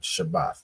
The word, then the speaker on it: Shabbath: AA and a right so it's pronounced shabbath right shabbath not not um not Shabbat Shabbat in the Hebrew is